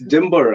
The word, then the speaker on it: Dymbur: for people to pronounce it's Timber actually Timber it's a cozy word for a fig tree yeah I mean like we belong to an Indonesian stripe here in uh shillong in in the northeastern part of India in a city called shillong uh so uh Timber is pronounced as d-i-m you know the Y is pronounced as I in English that is awesome I